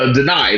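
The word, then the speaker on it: Danai: But like I felt like I felt Denai. That's her name, right? That's how you pronounce her name, Denai.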